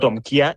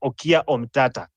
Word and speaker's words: Okiya Omtatah: said on the comment most people have maybe been pronouncing the name wrongly it's not omia it is okia omata so that's something that